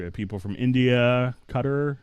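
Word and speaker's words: Qatar: So, we have people from India, Cutter. I believe that's the correct pronunciation.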